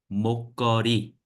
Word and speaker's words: 목걸이: When you pronounce, it will be 목걸이, 목걸이. Okay.